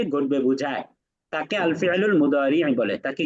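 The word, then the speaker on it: مضارع: মুদারি, একটু শেষে একটা আইন উচ্চারণ করতে হবে।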